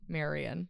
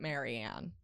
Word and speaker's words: Marianne: Maryanne. Marian. I know it's hard to not say like Marian.